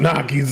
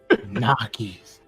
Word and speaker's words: gnocchi: Gnocchis. The ganache. The ganache. Ganache. It's called Nockies. Not Gnocchis. They're Nockies. G's silent. Jeez. The G is never. Oh wait, no, the G is silent.